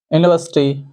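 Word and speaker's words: university: लेकिन इसका उच्चारण यदि आप निकालेंगे तो उच्चारण होगा। यूनिवर्सिटी यूनिवर्सिटी में आप देख रहे हैं यहां पर पहला जो लेटर है वह है या और या हमारे इस सूची में नहीं आता।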